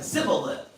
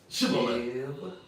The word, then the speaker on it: Shibboleth: Sibboleth. Shibboleth. Shibboleth. Alright? Let me get it right now. Shibboleth.